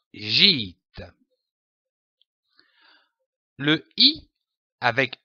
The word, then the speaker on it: gîte: Il se prononce comme un I long, comme par exemple une île, un dîner, un gîte.